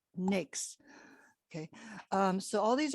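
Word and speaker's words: NAICS: codes all the different nix codes you pronounce uh naic we pronounce n-a-i-c-s as nix okay um so all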